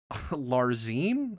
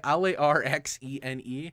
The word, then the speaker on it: Larxene: Larzine? I don't know how to say it. Larxene.